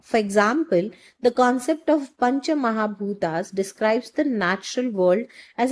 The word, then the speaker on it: Pancha Mahabhutas: The proper pronunciation of this word basically goes as Pancha Mahabhutas, which is nothing but the idea of Pancha Mahabhutas is nothing but five great elements.